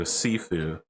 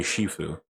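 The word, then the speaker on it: 师父: confederation it would be shifu okay i totally was going to pronounce it as shifu just because yes that's correct yeah the way i pronounced it was cantonese and japanese so that's that's the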